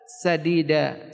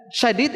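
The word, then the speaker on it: سديدا: Allah, wa qulu qawlan sadida. Sin, pakai sin bukan shin. Ucapkanlah ucapan yang sadidan, yang benar. Kalau pakai ucapan shin, ini artinya keliru.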